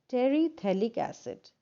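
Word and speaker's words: terephthalic acid: and we take a terethalic acid when you pronounce this name the p is silent okay terethylic acid is nothing but a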